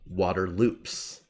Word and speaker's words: Waterloops: The name of it is spelled Waterloops. But it's pronounced Waterloo, except there's actually one scene, if you listen carefully, and they post it on Twitter. If you listen, Ted says Waterloops.